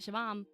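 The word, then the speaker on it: Siobhan: Like, I literally just learned how to pronounce like Shivam. You know what I mean? Like, that's the only Irish name that I'm like, that's how you say it, Shivam.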